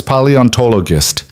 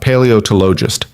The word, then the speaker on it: paleontologist: It's paleontologist, Mila said carefully. Not paleotologist. Paleontologist, Lena repeated.